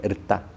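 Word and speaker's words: ṛta: Quizás la primera alocución que existió es Rita, se escribe, bueno, sin I, pero suena como con una I, Erta.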